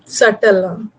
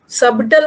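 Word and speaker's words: subtle: बारीक सा, nuance, NUANC, सटल। सबटल मत बोलना, बी साइलेंट है।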